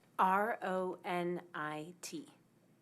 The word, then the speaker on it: Ronit: R O N I T. All right. And pronounce it one more time. Ronit.